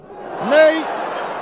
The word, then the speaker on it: Ney: Cela s'écrit comme notre maréchal, Ney, mais ça se prononce Ney, Ney, que voici sur votre